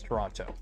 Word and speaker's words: Toronto: and it's a lot of bad drivers it's pronounced toron no it's Toronto because it pisses off the the tonans torontonians